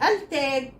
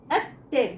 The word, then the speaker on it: التاج: التاج، التاج. بص انا نطقتها ازاي؟ التاج، اللام ما اتنطقتش.